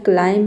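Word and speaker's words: climb: क्लाइम नहीं होता है। क्लाइम होता है क्योंकि बी के पहले एम है इसलिए यहां पे बी लेटर साइलेंट है।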